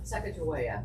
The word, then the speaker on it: Sacagawea: Sacagawea. What's the real pronunciation of that?